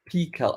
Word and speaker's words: Pical: And you have built a product called Pical. I pronounce it Pical. Is it Pical? Is it Pical? We've been calling it Pical, because it's like Pi 3.14, Right. that sort of Pi.